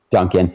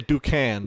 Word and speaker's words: Duncan: How do you say your name? Duncan. Duncan, okay. I was going to say Ducan, Yeah. but that's just my mind looking at the name. No, that's not it at all.